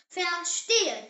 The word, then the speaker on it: verstehen: In German, V is actually pronounced like the English letter F.